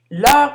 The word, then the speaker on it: leurs: Leurs professeurs sont francophones. Tout est au pluriel. Ici, on ne prononce pas le S de leur professeur.